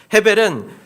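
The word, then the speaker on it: הֶבֶל: 아벨은 히브리어로 발음하면 헤벨이라고 합니다. 헤벨은 잘 아시는 여러분들이 잘 아시는 전도서의 주제기도 합니다.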